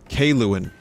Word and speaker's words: Kaluan: Kaluan is how you pronounce her name.